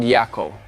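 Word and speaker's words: Jaco: There's an island called Atawo and there's another island called Yako. Look it up. It's spelled Ataho and the other one is called Jako.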